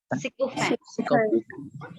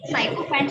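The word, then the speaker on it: sycophant: सिकोफेंट। साइकोफेंट नहीं है, इसको साइकोफेंट नहीं बोलेंगे, इसको बोलेंगे सिकोफेंट।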